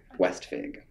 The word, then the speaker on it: Westvig: Roger Westvig. How do you spell that? West. What? And then Vig, like just Fig, but with a V.